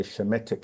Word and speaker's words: Semitic: In ancient, they say Semitic, but we say Shemitic languages, because the Amen